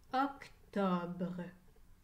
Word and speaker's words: octobre: le mois de septembre le mois d'octobre termine avec le son banc br collés ensemble la lettre e à la fin est muette octobre le san roque